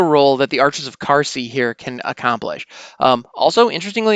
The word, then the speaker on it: Qarsi: saying QU, but nope, there is no U after that Q. So I'm assuming it's pronounced similar to a K and it's pronounced Qarsi, but I could be wrong.